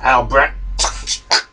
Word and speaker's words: Albrecht: Anyway, always pronounced Albrecht. You know, like a. Well, I hate for it to sound prejudicial, but like an Englishman would pronounce it.